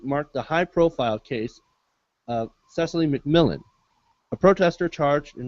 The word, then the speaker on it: Cecily: We're going to talk about the OWS activist, Cicely, I never know how to say her name. Cicely McMillan. Cecily McMillan, thank you.